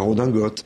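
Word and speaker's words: redingote: les mots d'hier comme riding coat qui était le manteau pour faire du cheval il sont entrés dans la langue en étant francisisé dans leur prononciation c'est la redingotte le paquet de bot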